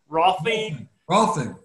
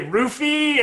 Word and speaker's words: Rolfing: Unlike him, I think he's I always pronounce this wrong, Rolfing. Thank you. I almost say roofie, and that would be a bad representation. That's a different thing.